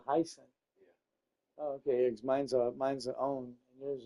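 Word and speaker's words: onn: Mine's a own. And yours a. Everybody pronounces that wrong. They call it a one. It's own. How would you pronounce that? O-N-N. Own. It's like O-W-N, but it's O-N-N.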